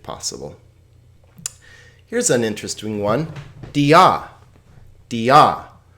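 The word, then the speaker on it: διά: Dia. Dia. Notice here that this is not a diphthong. Alpha iota is a diphthong. Iota alpha is not. So this is 2 separate syllables.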